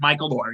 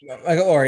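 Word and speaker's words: Michael Oher: I think it's how you say his name. Michael Orr. You're right. Michael Orr.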